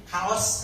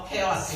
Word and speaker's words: chaos: Kaos katanya, kaosnya bukan kaos ini ya, kaos gitu ya, apa kaos ya. Mana bacanya soalnya yang itu kadang kaos, kadang saya sampai kaos gitu ya. Oh chaos ya, gitu.